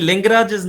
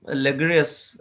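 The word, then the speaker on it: Laguerre: ऐसा कोई नाम है लगस जिसको प्रोनाउंस कुछ इस तरह करते हैं लिंगराज नहीं है ये यह एल ए जी यू E double R एस लेग लगस ठीक है जी जी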